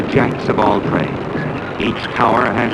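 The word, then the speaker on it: tour: in the oil fields is called a tower why nobody knows it is spelled tio you are this well operating in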